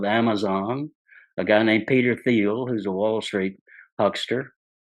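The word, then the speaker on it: Thiel: a guy named Peter theel who's a Wall Street huster His Name by the way conveniently rhymes with steel some of these guys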